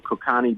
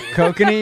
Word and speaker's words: Kokanee: We got some Kokani beer. Oh, Kokanese? Kokanee, you mean? Kokani, whatever. I don't know. Is that how you pronounce it? Yeah, kokanee.